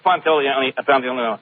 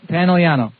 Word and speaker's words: Pantoliano: Joey Pantoliano. Pantoliano, right? Yeah. Have you John ever was thought of changing Pantoliano. I said, no, that's not right. Pantoliano. It's spelled with an O.